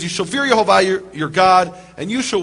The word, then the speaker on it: Yehovah: Him by His name, which is Yehovah, or others pronounce Yahweh.